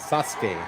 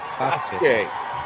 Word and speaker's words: Sasuke: Not not trying to correct you, but I believe the pronunciation is Sasuke. Sasuke.